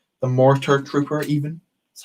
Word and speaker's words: Mortar Trooper: But I really enjoyed that scene in The Mandalorian, and I really, really loved the Motor Trooper. The Mortar Trooper, even. That's how you pronounce it.